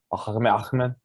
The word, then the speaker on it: Ahmed: I believe you pronounced that wrong. Ahmed.